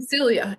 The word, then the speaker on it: Celia: You can call me Celia. Yeah, you can call me Silia if you want.